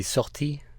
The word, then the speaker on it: sortie: You pronounce it with confidence, not in that kind of foreigner trying to speak way. Oh, God, yeah, like I'd be like, Swate. Sortie. It's like a SWAT team.